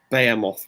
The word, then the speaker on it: Behemoth: Behemoth were fantastic.